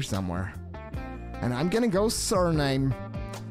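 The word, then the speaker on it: Suriname: And I'm gonna go surname. We figured out that that's how you're supposed to pronounce it.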